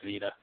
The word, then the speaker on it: Vida: I design, I make designs for scarves and shirts and handbags and for Vida, I think it's Vida. That's how they pronounce it.